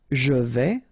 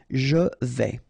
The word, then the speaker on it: vais: Je vais, final S not pronounced here, and remember when you combine this A and E together, you get the sound E, so really open. Je vais.